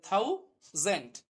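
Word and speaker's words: thousand: এ একটা ভাওয়েল এইজন্য এখানে উচ্চারণটা হবে জ তাহলে জেন্ট তাহলে থাউ জেন্ট অর্থাৎ থাউজেন্ট উচ্চারণটা এরকম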